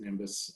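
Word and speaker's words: NIMBioS: science foundation called nimbus it's comes out to n-i-n-b-i-o-s but they pronounce it nimbus uh the national um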